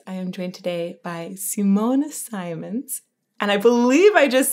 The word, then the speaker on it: Simone Simons: me first off um the Dutch way to pronounce my name would be would be Simona Simons but I've been called